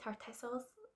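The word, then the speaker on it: Tartessos: Yes, I think you pronounce it in the same way. Tartesos.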